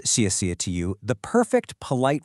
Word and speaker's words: xièxie: First up, xièxie. This means thank you. Now, pay attention to the pronunciation here. The first xiè is strong with a falling tone. The second one is super light and neutral.